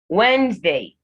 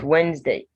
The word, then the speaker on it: Wednesday: pronounced so say february wednesday wednesday so it's not wednesday it's wednesday the first d is silent same for the second e so you say wednesday december the c in